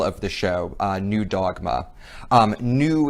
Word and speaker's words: Nu: the show new dogma new is not spelt any w here it is spelled n u and uh this is